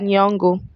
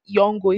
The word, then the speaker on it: Nyong'o: So the next African hair celebrity is Lupita Nyong'o. So it was just this evening when I was researching, I found out the real pronunciation of her surname. I used to call her surname Nyong'o instead of Nyong'o.